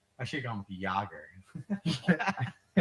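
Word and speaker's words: Jagr: I should have gone with Yager. Yogger.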